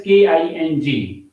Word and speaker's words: king: sing when we uh the word king spent as k i n g it has no gas sound at the end of it the final sound is not girl it is this sound king same way s i ng is not sink it is sing ring ding but in